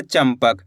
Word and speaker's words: चंपक: यहां पे देखो च के ऊपर अनुस्वार की मात्रा इसके बाद प यह रहा प तो अपन ने आधा म का उच्चारण कर दिया चंपक।